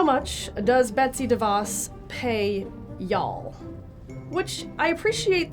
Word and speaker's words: DeVos: Sometimes they say Betsy DeVos, which is how you pronounce her name. Sometimes they say Betsy DeVos, which is not correct. And they'll say, oh, that's that Betsy DeVos or Devis thing, that school choice thing.